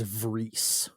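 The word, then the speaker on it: Vriess: Is it Rice or is it Vries? In the next scene, Elgin pronounces it as Vries.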